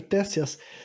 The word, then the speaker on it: Ctesias: Ctesias, o nome do cara é com C-T-E, sabe? Começa com C mudo, eu acho, Tésias.